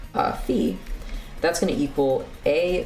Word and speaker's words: phi: It's not called phi, man. That's depressing. It's phi. It rhymes with pi.